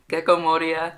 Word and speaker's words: Gecko Moria: I feel like I'm trying too hard to pronounce it, but like that's how it's pronounced. Gecko Moria.